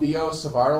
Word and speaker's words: Biot-Savart: It's called Biot-Savart law. That's BIOT SAVART. I mean, yeah, Okay, the whole team is like- the T is silent.